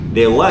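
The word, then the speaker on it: では: Nah, itu dewa juga tulisannya DH. Ya, DH tapi dibacanya wa.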